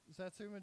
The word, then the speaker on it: satsuma: one yeah isn't it satsuma jam we got we got strong reactions from the crowd yeah it's actually pronounced satsuma satsuma it's not sounds like a tekken character there's a riff in